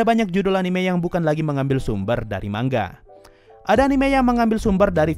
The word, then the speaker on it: manga: perkara mangga Iya mangga kata-kata gue sebut mangga karena memang pengucapan aslinya seperti ini gue sebenarnya ke bingung sih dengan pengucapan mangga bingung bukan karena enggak tahu cara bacanya Ya tapi bingung karena mau ngikutin yang mana di satu sisi netizen sebutnya manga tapi disisi lain ada yang bilang harus dibaca mangga jadi Yaudah